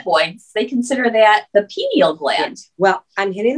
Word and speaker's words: pineal: the hypothalamus, and the pineal gland. So yeah. Oh, I said it wrong. Pineal. Pineal. I think they say it.